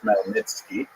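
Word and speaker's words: Khmelnytsky: It's actually pronounced Malnitzki with a gut at the beginning.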